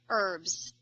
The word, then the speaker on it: herbs: oh herbs well just pretend the H is not there herbs herbs oh yeah I have no idea why oh it's a silent HD if you say herbs